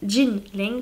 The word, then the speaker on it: Jin Leng: Leng je crois que alors ça s'écrit Kin Leng mais je crois que lui il prononce Jin Jin Leng pardon qui est une illustratrice